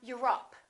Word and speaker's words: Europe: Europe or Europe? I'm from Europe. Don't say I'm from Europe. This is stressed. The O, once again, is reduced.